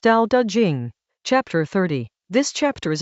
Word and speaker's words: Tao Te Ching: Tao Te Ching, pronounced Tao Te Ching, Chapter 30.